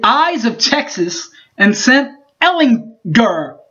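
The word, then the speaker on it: Ehlinger: of texas and sent ellen gur hit that hard g baby got him by 10 points last week last year in fort worth by the way 37 to 27.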